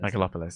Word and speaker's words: Megalopolis: Megalopolis, yeah.